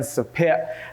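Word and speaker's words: Sopheak: my ex, Saphi, S-O-P-H-Y, and my best friend, Sapit, S-O-P-H-E-A-K. My name is pronounced!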